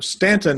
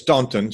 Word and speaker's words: Staunton: So, Stanton is spelled S T A N T O N. That's right. When I ask Siri, she says Stuntton. She just not from there.